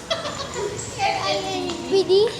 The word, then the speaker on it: Airbnb: How do I pronounce it? Airbnb. This is my Airbnb. Airbnb. Correct.